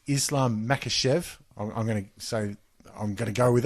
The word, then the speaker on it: Makhachev: It's Islam Makhachev. I'm going to go with it. That's how that name's pronounced.